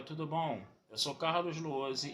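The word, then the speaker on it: Lohse: Meu canal no YouTube é o Carlos Luozi. Luozi se escreve L-O-H-S-E, se escreve com Z.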